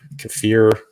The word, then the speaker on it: kefir: a bit of kefir kefir I've always pronounced it kefir but I've heard some people saying kefir uh you know with